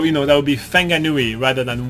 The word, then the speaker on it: Whanganui: good so for example the wh he's actually pronounced f so so you know that would be feng a Nui rather than Whanganui there is obviously some older white New Zealander